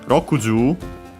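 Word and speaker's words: 六十: Then we have Rokuju, 6 tens, so yeah, 60. Ju, 10, accented, so can stay the accent only on the first mora, on the ju itself, not on the long vowel.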